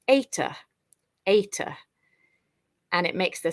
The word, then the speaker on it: eta: then we've got this letter here which is pronounced ETA ETA and it makes the sound a so